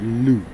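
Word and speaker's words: Lugh: like a celtic okay named after the gaelic god lou pronounced like you and this holiday or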